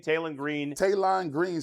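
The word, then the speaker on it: Taylen: Hey, real quick, it's Taylon Green. Taylon. You said it wrong all week.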